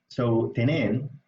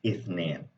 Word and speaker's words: اثنين: So تنين, or اثنين rather. اثنين is two, or اثنين really. Okay, sorry. So the appropriate technical pronunciation is اثنين with the th, right?